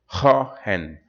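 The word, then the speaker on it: Huygens: up of particles later haen is but actually it's a Dutch name pronunciation hen hen hen proposed that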